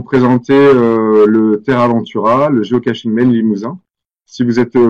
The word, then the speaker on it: géocaching: Alors, géocaching, c'est géocaching et pas catching.